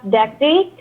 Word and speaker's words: dactylic: Then we have dactylic. It is DAC, dactylic. DACTYLIC. Dactylic.